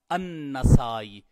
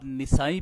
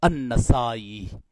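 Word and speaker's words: النسائي: اور آج ہم نے النسائی کا تلفظ جو ہے وہ ہم نے پڑھا نون کے زبر اور سین کے زبر کے ساتھ النسائی. اس لیے بعد احباب نسائی بھی اس کو پڑھ دیتے ہیں نون کی زیر کے ساتھ. تو جو اصل تلفظ محدثین کرام نے بتایا ہے وہ نون کے زبر کے ساتھ ہے النسائی.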